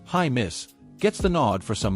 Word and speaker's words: Jaimes: And on the offensive side, Brendan Jaimes, pronounced high miss, gets the nod for some muchneeded depth.